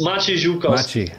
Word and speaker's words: Maciek: say your name again matchy i can't it's matchy yeah i'm gonna get a ray one of